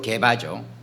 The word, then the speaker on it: 게바: 그러니까 히브리어 발음으로, 유대식 발음으로 게바죠.